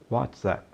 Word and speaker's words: WhatsApp: é isso mesmo a pronúncia correta do aplicativo é what zap por causa desse é